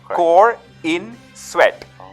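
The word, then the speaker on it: Corenswet: corent sweat so he's he actually broke it down core in sweat so that's how you should say it core in sweat so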